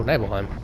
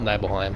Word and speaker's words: Nibelheim: Oh, Nibelheim. Or Nibelheim, depending on how you want to pronounce that. I call it Nibelheim.